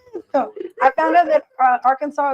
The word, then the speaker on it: Arkansas: So I found out that Arkansas is actually pronounced that way because it's actually a native name.